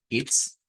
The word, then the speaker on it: ist: escribe Así se pronuncia nada más que es con una I corta It's It's It's y hay